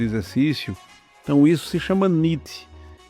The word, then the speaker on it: NEAT: Na sigla em inglês é pronunciado como nit, é escrito neat, vem de non exercise, activity termogênesis.